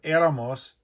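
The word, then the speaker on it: éramos: tour Eros and eron there's an accent on the E of aramos because it's a vow stress three vowels back it breaks both rules it gets an accent mark eras ER oson like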